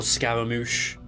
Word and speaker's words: Scaramouche: So I can't pronounce the name. I just call him either Wanderer, or Scaramouche.